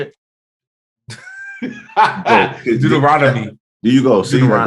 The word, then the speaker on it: Deuteronomy: called Deuteronomy is that how you say it Deuteronomy there you go see what I let you